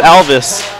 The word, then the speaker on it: Alvis: It's not Elvis, it's Alvis. Spelled with an A.